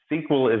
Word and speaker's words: SQL: language which we pronounced sql we'll go ahead and add some add in the missing vowels so that we can say that word because it's one that